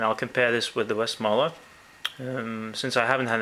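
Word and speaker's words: Westmalle: bit is the um actually the correct way to pronounce this is i've checked it's west muller westmorela trappist double it's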